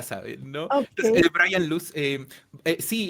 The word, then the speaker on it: Luche: De hecho, él lo pronuncia Brian Luz, Ah, ok.